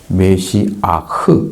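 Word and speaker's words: משיח: 메시아흐 이렇게 읽습니다. 메가 메시아흐 이렇게 조금 두꺼운 목소리가 나와야 됩니다.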